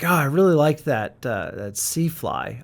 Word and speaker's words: SiFly: I think that everyone else pronounces it SiFly. But and so that's something that the brand might want to consider. It sounds cooler as SiFly, like science fiction fly, but everyone pronounces it SiFly.